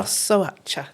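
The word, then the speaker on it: Șoșoacă: Right, you might have to help me with the pronunciation. I think it's Sosoacha. Sosoacha, thank you.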